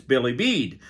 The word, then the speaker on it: Bilibid: Sheila taught me how to say it. So, as I understand it, it's Billy Bead.